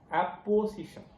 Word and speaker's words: apposition: Samanadhikaranya means, in English, I found the word apposition. I think I am pronouncing it correctly. APPO. It is not OPPO.